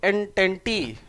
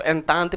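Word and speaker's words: Entente: triple एन टेन टी तो एन टेंटी एन टेंटी भी बोल सकते हो नो प्रॉब्लम प्रोनंसिएशन में उतना नहीं स्पेलिंग में ध्यान देना है कि नहीं अभी ठीक है तो एन तांत भी बोलते हैं एंटिटी जैसे भी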